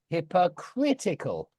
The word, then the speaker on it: hypocritical: So it's on the o, and then it's hypocritical. Yeah, on the I.